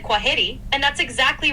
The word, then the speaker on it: kwaheri: It's pronounced kwaheri.